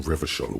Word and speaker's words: Revachol: For Revachol, yours, if it doesn't rhyme, you're not pronouncing it right. Out of the dazzling swirl of disco music, in an open air, Boîte de Nuit, somewhere in Revachol West, Guillaume's blonde mane appeared on the screen.